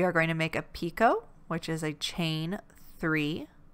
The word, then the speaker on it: picot: i'm saying that right for some reason i want to say picat but i think it's supposed to be pronounced pico if i'm pronouncing it